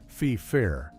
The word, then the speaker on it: Feifer: Case in point, a show from 1998 called The Secret Diary of Desmond Feifer, the title character, whose last name is pronounced FIFA, was a black English